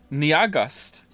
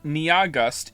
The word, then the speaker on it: Nyahgust: has informed me that their name is only 2 syllables long. And I don't understand how that's possible. Nia is clearly 2 syllables on its own. And then after that, you have Gust. Niagust. It's pronounced like August.